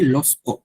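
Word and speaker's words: lorsque: হ্যাঁ, কম আমরা ইউজ করছি মানে when, কমদের আরো একটা সিনোনিম আছে লস্কো, লস্কো, লস্কো হচ্ছে আপনার এটাকে এই আর যেটা আরটা খুবই সাইলেন্ট থাকবে, লস্কো, লস্কো অর কন্দ, কন্দ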